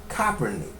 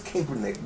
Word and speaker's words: Kaepernick: name is Kaepernick but when I was in English and there was a e after a vow and his name is spelled k-a-e then the e was solid and the The Vow took on the uh long uh long a sound so it's Kaepernick but evidently uh he pronounces his name differently and I don't want